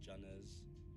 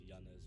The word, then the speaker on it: Janez: Everyone in Oz says Janez with a J, but it's actually pronounced Yanez with a Y, like Yanez.